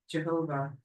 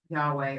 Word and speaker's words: Yahweh: I don't know what it's like in our but you'll see that the original pronunciation of vah was lost. modern attempts at recovery such as Yahweh are conjectural and having a support trend tradition.